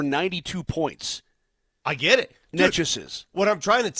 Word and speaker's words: Nečas: By the way, how do you properly pronounce it? Nečas. Nečas.